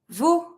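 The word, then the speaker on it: vous: don't pronounce the S you V don't pronounce the S they depending of the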